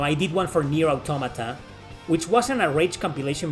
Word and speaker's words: Automata: did one for Near Automata, which wasn't a rage compilation video, more like a funny moments compilation video of my live stream of near Automata. Automata, sorry, Autoda, it's pronounced automata.